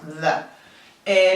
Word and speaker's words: the: inglés tenemos solo uno, the. La pronunciación de este artículo tenemos que poner la lengua entre nuestros dientes y vibrarla un poco, the. No es de, es the.